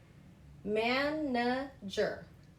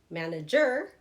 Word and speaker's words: manager: I don't say manager. I've heard that before, but we say manager. That first part, man, is emphasized.